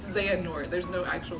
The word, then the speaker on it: Xehanort: Now I know how to pronounce his name. Xehanort, I guess. Because when I was Yeah. reading it, I kept calling him, like, Xenahort. Like, I would reverse the N and the H.